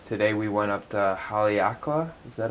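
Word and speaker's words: Haleakalā: yeah uh so today we went up to haleakala is that how you pronounce it that is job haleakala which was a used to be a volcano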